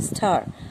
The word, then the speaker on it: stir: With দিয়ে, পরিষ্কার একটি চামচ দিয়ে কি করব, এখান থেকে কোন ওয়ার্ড হতে পারে, এক্স্যাক্টলি স্টার, STIR, এটার উচ্চারণ হবে স্টার।